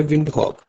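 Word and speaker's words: Windhoek: इसका कैपिटल है विंडहक डब्ल्यू आई एन डी एच ओ ई के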